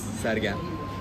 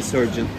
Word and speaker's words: Sergen: My name is Sergen. Okay. It's a hard name to pronounce, I know, but some people call me Surgeon or Sergeant.